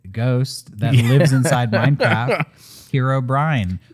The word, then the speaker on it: Herobrine: that lives inside minecraft herobrine which by the way i found myself slipping and and kind of not being so precise with my pronunciation and it kind of sounded like i was saying hero brian i i when you said it i thought it was hero brian uh i just